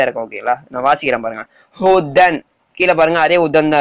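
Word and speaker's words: هُدًى: ஓகேங்களா, கன்ஃபியூஸ் ஆக தேவையில்ல, ஹுதன் சொல்லுங்க, ஹுதன் அதாவது யா சைலண்ட் ஓகேங்களா, அந்த யா சைலண்ட்டு கீழே அலிஃப் சைலண்ட் ஓகேங்களா, இழுக்கெல்லாம் தேவையில்ல, ஹுதன் அது இந்த யா அலிஃப்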